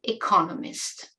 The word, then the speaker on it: economist: Notice the difference in pronunciation (word stress): economics and economist.